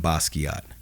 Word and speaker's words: Basquiat: And then, dude, you're gonna pronounce for me how you say your personal one. My personal page is William Basquiat.